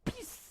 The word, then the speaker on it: PiS: może być dla niego PiS. wymawiana przez Polaków po angielsku PIS z naciskiem dłużej na głoskę S.